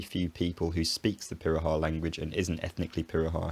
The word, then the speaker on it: Pirahã: My best guess is that it's Portuguese and it's natively pronounced something like Pirahã.